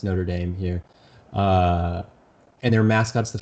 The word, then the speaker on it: Notre Dame: question so we have the University of it's pronounced Notre Dame here and their mascots the Fighting Irish sure